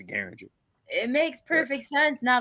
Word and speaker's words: Gueringer: But it's Gueringer, just like the gun. Derringer is Gueringer.